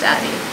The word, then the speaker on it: Addyi: Yeah, Luke looked it up, and I trust his research skills, so it's pronounced Addyi.